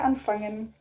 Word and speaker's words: Anfangen: So here we say again, but you say it with a swallow G.